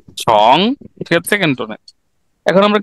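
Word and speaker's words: 从: এটা কি উচ্চারণটা কি হবে রবিল ভাই? ছং, ছং, ছং ছং, ছং মানে হচ্ছে ছং।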